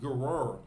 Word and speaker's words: Gerar: I don't want to mispronounce it. I believe it's pronounced Gerar.